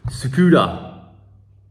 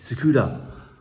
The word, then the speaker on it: Tsukuda: TSUKUDA. Someone said just don't pronounce the T. TSUKUDA.